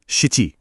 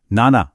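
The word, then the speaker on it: なな: बिल्कुल चार की तरह इसके भी दो कॉमन उच्चारण हैं नाना नाना और शिची। लेकिन आपको बिल्कुल कंफ्यूज नहीं होना है। हमें पूरे कॉन्फिडेंस के साथ ओरिजिनल जैपनीज शब्द नाना को ही याद रखना है।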